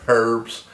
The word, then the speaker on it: herbs: own herbs herbs uh that's in the South the H is silent so it's herbs and like Rosemary we